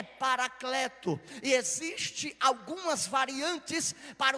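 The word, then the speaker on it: παράκλητος: vou enviar o consolador a pronúncia da palavra Consolador no seu original é parakleto esses ti algumas variantes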